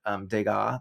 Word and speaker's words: Degas: And so yeah, she recognizes one of the paintings of ballerinas on the wall was an early, is it Degas? That's how you pronounce it, right?